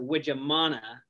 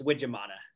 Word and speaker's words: Wijemanne: uh last name in in america we pronounce it which amana but in holland it's actually a dutch last name they pronounce it we amana uh but for all practical purposes it's wijamana okay all right well